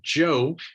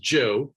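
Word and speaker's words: Zhou: a a group of people known as the Joe it looks like Z or zuu it's pronounced Joe that's easy for us in in America to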